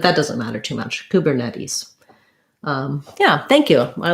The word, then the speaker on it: Kubernetes: let's listen okay so they're saying kubernetes with um second to last syllable stress and so if we were to write that with the ipa kubernetes we would see stress on the net and then an ease